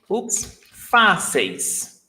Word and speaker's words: fáceis: So we've got, fáceis. Fáceis. You drop the il, and then you've got fáceis.